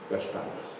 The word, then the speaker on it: Gaspar: So, Gaspar.